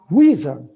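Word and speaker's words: WHSRN: initiative is the shorebird western hemisphere shorebird reserve network pronounced wizard which i was told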